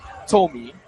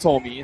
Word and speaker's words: Tomi: But again, the first couple of weeks of the year, the name was pronounced Tomy, but again, hails from Japan. Last name sort of Americanized, so had it pronounced Tommy.